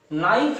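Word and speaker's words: knife: आप देख रहे हैं, अगर हम इस के को हटा दें, केवल NIFE का उच्चारण करें, तब भी तो ये नाइफ है। तो इस के की यहां क्या आवश्यकता है? के लिखा तो जा रहा है, लेकिन इसका उच्चारण नहीं हो रहा है, अर्थात के क्या हो गया?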